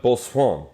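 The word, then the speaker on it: Boisson: Yeah, it's like croissant, but Bossuan.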